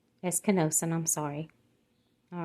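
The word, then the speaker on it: ἐσκήνωσεν: It's pronounced esenosen. Eskenosen, I'm sorry.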